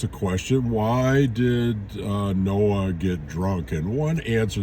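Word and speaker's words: Noach: read the story of Noah's Ark uh in Hebrew Noah's Noah it's got that sound at the end uh and we read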